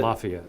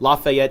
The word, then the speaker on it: Lafayette: Is that how you pronounce it? Lafayette. Lafayette, Indiana.